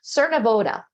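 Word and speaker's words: Cernavodă: off the ship in Cernav, how do I pronounce that? Cernoda.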